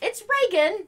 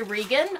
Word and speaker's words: Reagan: And Rick's like, no, it's Reagan. You know, that guy that you probably fucking voted for way back in the day. It's still pronounced Reagan.